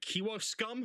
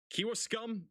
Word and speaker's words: Kewaskum: Got a big surge of wind also going into West Bend, and I think that's how is that Kewaskum? I think is how you say it. Kewaskum, Wisconsin.